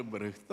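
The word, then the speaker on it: Brecht: ഏറ്റവും വലിയ ഉദാഹരണമാണ് ബെർട്ടോൾഡ് ബ്രഷ് എൻറെ ഗുരുനാഥനായ അയ്യപ്പ പണിക്കർ സാർ ബ്രഹ്ത്ത് എന്നാണ് പറയുന്നത് കൃത്യമായ ഉച്ചാരണം എന്തും ആയിക്കോട്ടെ ഏതായാലും ബ്രെസ്റ്റിന്റെ എടുത്താൽ അദ്ദേഹം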